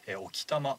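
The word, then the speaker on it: 置賜: 玉地方、こちら沖玉は物を置くに賜ると書きと読みまして、沖玉と呼びます。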